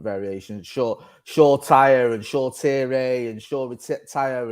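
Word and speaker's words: Shoretire: sure shaw tyre and shaw tierray and shaw with tip tyre and shaw tierra is how you pronounce it so short here oh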